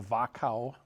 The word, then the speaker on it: Wachau: valley in the Danube, and it's called the Wachau Valley. It's spelled W-A-C-H-A-U.